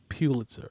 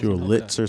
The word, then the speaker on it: Pulitzer: Pulitzer. So you want to put an emphasis on the zer? Pulitzer. Pulitzer. Oh, you trying Wrong emphasis on the syllable.